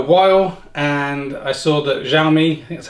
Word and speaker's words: Xiaomi: got a new electric vehicle that's this the xiaomi mi electric scooter we'll unbox it talks about